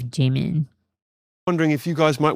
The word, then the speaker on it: Jimin: Not like James Corden, who says Jamie instead of Jimin.